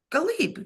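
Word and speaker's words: Ghalib: hell out of that g h a l i v galib galib you got it right okay like Talib galib but that's his name and I'm sorry for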